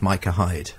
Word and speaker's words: Micah Hyde: oh by the way the number whatever for Watford is pronounced Micah Hyde and I said oh